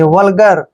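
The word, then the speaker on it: vulgar: important word we यू एल वीय एल का उच्चारण हम वल नहीं करेंगे वल करेंगे वल और जी ए आर को हम पढ़ेंगे वल्गर वल्गर क्या होता है वल्गर होता है अश्लील अश्लील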